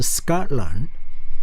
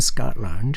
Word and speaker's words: Scotland: 지명 뒤에 land로 끝난 land로 끝난 거에 대한 발음은 대부분 land야, land가 아니고 왜 그러냐면 앞에 stress 강세가 있어요. 그래서 Scotland야. 그러면은 바로 옆에 있는 나라 어떤 나라 있죠?